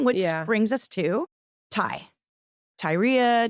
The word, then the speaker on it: Tyria: Tyria, Tyria, Teria if you're British. Like, you know, depending on like how you want to pronounce it, but let's just call her Ty cuz that's what Lee called her.